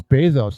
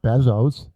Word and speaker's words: Bezos: It's Bezos, not Bezos.